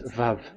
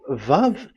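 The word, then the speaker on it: וו: We called it as Vav. Vav. Your mouth is like closed. Vav. So it's V as in Vogue. So it's really V. How to read Vogue? So the word, the shape Vav is really pronounced V, like Vogue.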